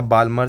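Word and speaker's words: Balmer: बामर series ठीक है या बामर सीरीज एम सा एल साइलेंट रहता उसमें ठीक है फिर आता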